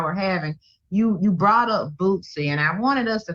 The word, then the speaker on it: Boosie: Yeah, you know, you put that little T, it sound like Bootsy.